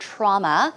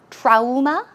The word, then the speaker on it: trauma: may pronounce the word trauma. Of course, it's spelled Trauma. How would you pronounce that? Trauma? Trauma, right? But actually, that's the wrong way of pronouncing it. It's trauma. Trauma. Drop your jaw, trauma.